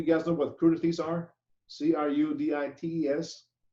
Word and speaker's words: crudités: Some common foods cut the style of our French fries in crudités. Crudités. You guys know what crudités are? C-R-U-D-I-T-E-S, or crudites, or whatever you want to pronounce it.